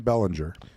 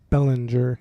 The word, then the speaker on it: Belanger: So you pronounce the last name Belanger. Belanger. Got it. Mike Belanger. Or Belanger, I guess. I got to emphasize the A a little more.